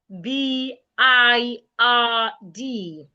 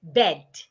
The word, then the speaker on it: bird: For example, the word B I R D. The right way to pronounce the word is bird. The I and R in the middle of that word is articulated uh bird, not bed.